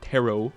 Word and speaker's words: tarot: My brain for some reason is because of the way tarot is spelled. I'm like hm carrot. But I'm like that's not pronounced the same way at all. Why am I thinking of that? Why am I dumb? H. Where's that rhyme with tarot? Uh, carrot.